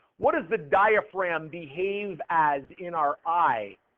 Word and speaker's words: diaphragm: is called the diaphragm this is the DIA fragum I got to put the G in I got to say the g or I spell it wrong diaphragm and it's it's got a g in it and as